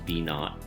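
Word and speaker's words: v₀: So my equation becomes 55 equals 16 plus v sub 0, pronounced v naught sometimes. And that's still times 1.56.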